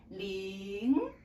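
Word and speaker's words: 零: This tone is our second tone which is going up. You can memorize as rising tone. rising tone which means you need to start lower and then go up. It's like in English you make a yes or no question. You say is it good? Is it far? Okay. So this one we pronounce as ling.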